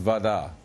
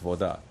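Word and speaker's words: вода: So voda is pronounced vada, whereas in many North Russian dialects it's still pronounced voda.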